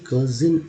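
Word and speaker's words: cousin: अभी देखिए कज़िन, इसको कज़िन बोलते हैं, कज़िन, कज़िन।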